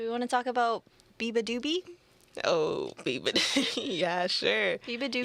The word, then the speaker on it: beabadoobee: Do we want to talk about beabadoobee? Oh, beabadoobee. Yeah, sure. Beabadoobee Yabba-dabba-doo? Yeah. Honestly, No. I thought it was beataboo. I don't know. I think it's beabadoobee.